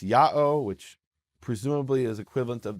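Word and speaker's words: Ιαω: The letter is pronounced Ya'o, which presumably is equivalent of the Hebrew Yeho, which is the prefix form.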